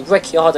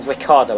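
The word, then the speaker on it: Ricciardo: as you can see riardo is also lapping us or Ricardo I should say I was told off for pronouncing Ricardo Ricardo's name the wrong way um are we going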